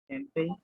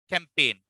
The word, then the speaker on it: campaign: G is silent. Campaign.